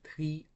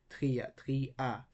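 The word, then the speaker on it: τρία: So ya is not a diphthong. That's why these vowels, Yoda and Alpha, will be pronounced separately. So we have tria, tria. We got a two-syllable word here.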